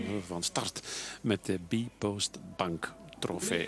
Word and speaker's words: Bpost: Over een goede 2, 23 seconden gaan we van start met de B-Post Bank Trofee. Het eerste deel spreek je op zijn Engels uit. Bank en trofee mag in het Nederlands.